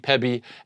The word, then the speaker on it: pebi: So it's me-bi, kibi, mebi, gibby, tebi, pebi, egsby, zebi, and yabi. That's how you pronounce them.